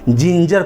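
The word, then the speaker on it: ginger: जिन हो गया और रूल के मुताबिक जी के बाद ई भी आएगा तो भी वह ज ही पढ़ा जाएगा उस जी को ग नहीं ज पढ़ा जाएगा इसलिए यहां पर दोनों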